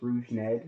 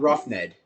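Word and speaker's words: Rougned: I think it's Rouge Ned or Rouge Ned? Rouge Ned, something like it. It's not Rough Ned.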